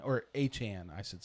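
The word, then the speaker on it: Etienne: number one, they went and signed Travis ETN or Achan, I should say. Travis Achan. Yeah, that is how we pronounce it.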